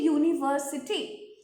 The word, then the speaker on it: university: As soon as we put it in this word, university, its pronunciation changes and it becomes YU, where Y is a consonant.